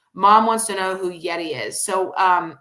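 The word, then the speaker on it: Gedi: Um mom wants to know who Yeti is. So, um, it's not it's G E D I. Yes. The G is pronounced as a Y.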